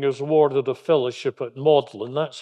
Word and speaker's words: Magdalen: now UNG graduating is awarded a fellowship at modlin that's how this this word looks like mag Magdalene is actually pronounced modlin college and that was his home until 1954